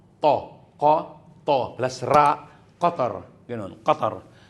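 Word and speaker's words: قطر: Then sa word na qatar qatar. Ang iba sabi niya qatar.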